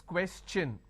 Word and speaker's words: question: When I have the word question, the TION becomes ch n. So it becomes question.